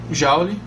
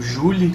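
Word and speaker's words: joule: que no caso é jaule ou Julie como você prefere pronunciar procuram O que é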